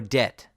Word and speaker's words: debt: is completely silent and some BT combinations these are just words you have to memorize like doubt subtle or debt where the B is completely silent and you pronounce the T instead and that is it for